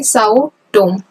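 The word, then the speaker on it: Sao Tome: एस डी जी सक यह जो सी है यहां पर साइलेंट है बस आपको समझने के लिए ससे तो एस यू और के तो यहां से सस से क्या है साउ टोम यहां पर आता है साटो ठीक है फिर है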